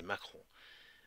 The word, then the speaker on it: Macron: Il parle de, là, ça dit Mahon, mais en fait, il dit Macron. C'est pas parce qu'il le prononce mal, mais c'est Macron.